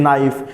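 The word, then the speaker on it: knife: কে এন আই এফই নাইফ তাহলে নাইফ এখানে দেখো এন এর পূর্বে কে আছে যদি এন এর পূর্বে কে থাকে তাহলে কে উচ্চারণ করার প্রয়োজন নাই তারপরে তুমি যে ডব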